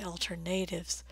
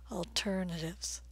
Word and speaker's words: alternatives: the word alternatives alternatives I've heard a lot of international IT professionals say alternatives but you don't want to say that if a word ends in IV s or I ve you want to stress two syllables before that alternatives alternatives bulb number